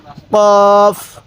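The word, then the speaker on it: ق: এই হরফটির নাম হলো কফ কফ এরপরে এই হরফটির নাম হলো কাফ দেখুন কফটা ধাক্কা দিব কাফটা সোজা করে পড়বো কোন ধাক্কা দিব না কাফ কাফ এরপরে লাম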